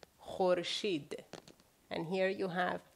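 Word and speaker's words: خورشید: So, if you look at the Farsi words here, here you have kh, u, re, sh, i, and de, khorshid.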